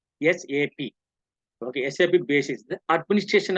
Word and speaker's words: SAP: called sap sap sap we have to pronounce sap okay do not make it single word okay this is for yes AP okay sap basis the